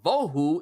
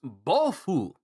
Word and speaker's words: Bofu: So in Japanese, the title of Bohu is pronounced Bofu.